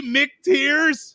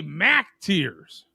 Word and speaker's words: Mac Tears: Wait, did he say Mick Tears? Yes. Mick Tears. Again, a mispronunciation by Trent. He should say Mac Tears.